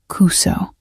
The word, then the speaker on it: Kuso: The U in Kuso should be shorter. Almost silent.